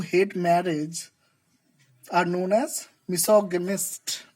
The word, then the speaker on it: misogynist: So these kind of people who hate marriage are known as misogynist. Misogynist. Let me show you this word phonetically.